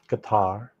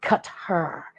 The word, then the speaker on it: Qatar: But anyways, that's so anyhow, it was a great time in Qatar. Remember, he said Qatar. Mm-hmm. Qatar.